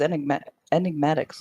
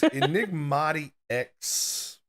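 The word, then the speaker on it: EnigmatiX: I thought it was Enigmatics or something. Have I been saying it wrong? It's Enigmati X.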